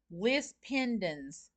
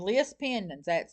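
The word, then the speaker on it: lis pendens: I could say, I want to know in my search, I'm in York County, I want to know how many list pendants has been filed in York County since January the 1st, 2026 through whatever date.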